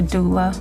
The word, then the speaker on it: doula: A doula.